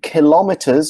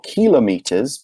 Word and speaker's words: kilometers: slightly longer distance and kilometers or kilometers both pronunciations are okay for long distances so